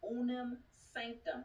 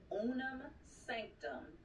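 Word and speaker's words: Unam Sanctam: I declare and decree that all contractual agreements under the Roman Empire, the Unam Sanctum, which is spelled U-N-A-M, Sanctum, S-A-N-C-T-U-T-A-M, S-A-N-C-T-A-M, the Unam Sanctum, and all participating entities are destroyed.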